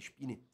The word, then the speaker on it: Spener: E o Spener, melhor dizendo, acho que a pronúncia certa é Spener, o Spener, ele tinha